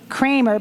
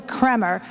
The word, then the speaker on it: Kramer: I said last night, my last name is spelled Kramer. There's some confusion out there that I might be related to someone else that pronounces their name Kramer, but it's really Kremer. So that's Kremer.